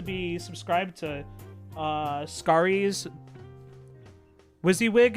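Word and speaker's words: WYSIWYG: Wizzywig is what I've always been told. Yeah, I think that's probably right. I I heard someone pronounce it Wissywig last week and I'm just like, okay, maybe they're just memeing.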